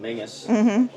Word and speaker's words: Menzies: And in fact, they were Menzies, or as it's pronounced in Scotland, Mingus, who were members of this regiment, and that is my last name, which is why I chose Wonderful.